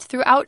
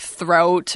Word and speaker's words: throughout: throughout is a preposition it's a bit of a tongue twister it's through and out stuck together some sometimes I see people say like throat or something not throughout two syllables if something happens throughout